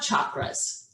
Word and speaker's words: chakra: so then we have chakras so you can pronounce them chakras you can pronounce them chakras technically it is chakra but it's okay however you want to pronounce it it is the sanskrit